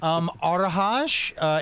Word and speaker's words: Arahja: Arahaj. It is spelled Arahja.